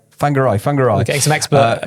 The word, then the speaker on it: Whangarei: I think I've pronounced that right. Whangarei. Whangarei.